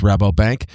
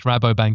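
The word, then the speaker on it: Rabobank: and how to pronounce Rabo Bank and where we can follow your work. Sure. Well, for us it's Rabo Bank.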